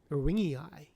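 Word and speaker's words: ewingii: Erwingi e w i y i n g i.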